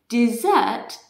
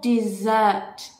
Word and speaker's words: dessert: one desert dessert desert dessert desert dessert okay dessert this is the meal i would like the brownie and ice cream for dessert please okay can you hear the difference you